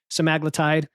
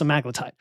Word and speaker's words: semaglutide: And he said, it's pronounced semaglutide. I don't know if you agree with that, but a lot of people say semaglutide.